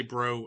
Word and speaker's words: Breault: So he likely pronounced it Brault. Submariners call it Breault, but I say Bro out of respect for the Bro families that are around today.